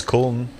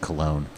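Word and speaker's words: Köln: Yeah, Kolsch is Kuln. Yeah, Cologne and how do you say it? Kuln. Kuln. Yeah. Or is it Cologne? That's the American one.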